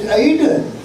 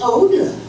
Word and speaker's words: Odin: one he's the god of Iceland Aiden you're pronouncing it Aiden in islandic it's Odin Odin I know each other very love get